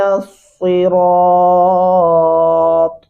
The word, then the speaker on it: الصراط: اہدی، ایک تو موٹا ہا پڑھیں گے، اور نصی، یہاں پہ سواد پڑھنا ہے، سین نہیں پڑھنا.